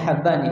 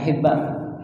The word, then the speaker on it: Habban: Dan bacanya Habban ya, bukan Hibban. Ini satu-satunya perawi yang dibacanya dengan Habba, dengan fathah. Beda dengan Al-Imam Ibnu Hibban, pemilik kitab Sahih Ibnu Hibban. Jadi kalau ini adalah Muhammad ibn Yahya ibnu Habban dengan di fathah haknya.